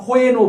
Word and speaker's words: when: ওয়াইল আর ওয়েন যখন আমরা কোথায়, কেন, কিভাবে ইউজ করব।